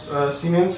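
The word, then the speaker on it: siemens: কিছুই না, এই ওহম ইনভার্সটা সেটা হয়ে যাবে সিমেন্স। আমরা জানি এসআইতে এটা উচ্চারণটা সিমেন্স হয় এবং এস দিয়ে লেখা হয়, বাকি জিনিসগুলো এখানে সেন্টিমিটারের জায়গায় হয়ে যাবে metre, metre square mole inverse.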